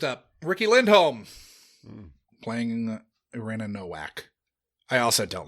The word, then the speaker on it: Nowak: I guess usually that last name wouldn't the W be pronounced a V, and it's because it's like Germanic or Eastern European or something. And it would have gotten changed to Novak.